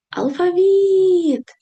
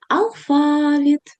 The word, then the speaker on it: алфавіт: Для того, щоб поставити наголос, потрібно покликати це слово алфавіт або алфавіт. Подвійний наголос.